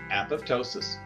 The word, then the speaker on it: apoptosis: our apoptosis remember program cell death and it's pronounced apoptosis and the last little uh seven minute video